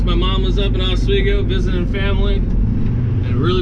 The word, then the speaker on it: Oswego: oswego las vegas oswego that's how you say it's oswego i don't care what anybody else says it's exactly what it is oswego new york is